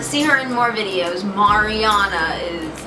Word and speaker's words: Mariana: you want to see her in more videos Mariana is how you pronounce right yes because this was fun did